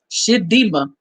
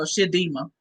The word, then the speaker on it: Chidimma: But I pray that girl, her name is Shidima, or Shidma, however you pronounce it, at CHIDM. There you go, Shidima.